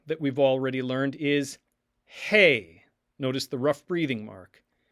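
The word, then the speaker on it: ἡ: The form of the word the that we've already learned is hey.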